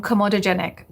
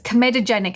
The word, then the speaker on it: comedogenic: You sound like you're talking about a dragon. It's comedogenic.